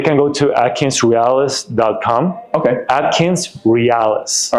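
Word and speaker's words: AtkinsRéalis: Is it like real? Yep. R E A L I S. Okay. Yes. Or you can Google Atkins realis.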